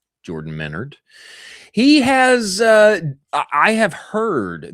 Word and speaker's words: Menard: Our friend Jordan Menard, I believe is how his last name is properly pronounced, not Menard. Jordan Menard.